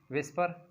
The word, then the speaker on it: VSEPR: Potential electron pair repulsion theory VSEPR VSEPR इसको हम pronounce करते हैं एज विस्पर थ्योरी VESPR लिखा इसी तरह जाता है एंड we pronounce as विस्पर theory.